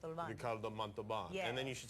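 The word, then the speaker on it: Ricardo Montalbán: honoring rro Ricardo monan you can't say his name you have to say Ricardo monan Ricardo monan and then you should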